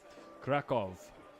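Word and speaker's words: Kraków: good plays real good cra kov is pronounced kov got it seems to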